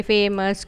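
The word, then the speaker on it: famous: इसकी साउंड है श्व साउंड। सॉफ्ट श साउंड विथ स इन द एंड।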